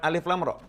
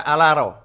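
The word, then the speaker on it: الر: tahu baca Al-Quran, maka membacanya bukan alif lam ra. Membacanya seperti orang membaca dalam bahasa Arab. Akan dibaca alaro.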